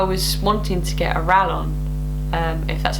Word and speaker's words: Rallon: wanting to get a rallon if that's how you say it i know that some people pronounce it rayon but because it's double l but yeah rallon because